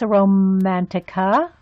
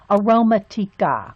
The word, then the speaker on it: Aromatica: Oh, good, Miss Romantica. It's aroma. It's aroma. It's not romantic. It's aroma. Aromatica. Aromatica. I'm gonna have to say it like that.